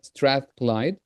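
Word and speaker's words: Strathclyde: So Gemma is an EAP program coordinator at at the University of uh Strath Clyde. Did I pronounce it correctly?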